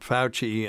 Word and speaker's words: Fauci: Yep, Fauci.